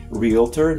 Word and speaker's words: realtor: Realtor, not realtor. It's spelled realtor, right? Someone who sells real estate, a realtor.